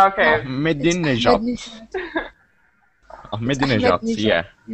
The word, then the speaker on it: Ahmadinejad: I suppose that Iranian president's name is pronounced like Ahmadji. No, it's not like that. Okay. Ahmadinejad.